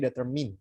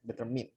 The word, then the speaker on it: determine: Nah, biasanya kita mengucapkan menentukan itu determine, tapi bukan determine, tapi determine. Ya, determine. Ya. English is not consistent. Ya. Kalau mine kepunyaan saya dia diucapkannya mine, tapi kalau pakai deter jadinya min.